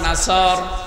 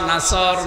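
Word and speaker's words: نصر: এখানে সোয়াদ মুখ গোল করে উচ্চারণ করা লাগবে।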